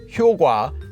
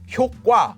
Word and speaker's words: 효과: And eventually in 2017, 국립국어원 relented and decided, okay, both of these are acceptable pronunciations for the word 효과.